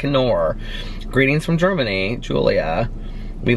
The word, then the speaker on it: Knorr: The K is not silent. Knorr.